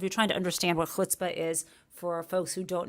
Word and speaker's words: chutzpah: Don't say chutzpah, which is something Sarah Palin said. Try to say chutzpah. Anyway, it just means nerve, right? And the quintessential, if you're trying to understand what chutzpah is, for folks who